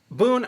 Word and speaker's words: Boon: as in how are you good you know boon boom yeah so it's boon it's